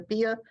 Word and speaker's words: Pia: Pia, where do you live in Texas? I'm in Houston, and it's pronounced Pia. Pia is my Hebrew name.